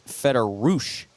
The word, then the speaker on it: Federouch: Coach, is that the correct pronunciation? Federouch. That is correct.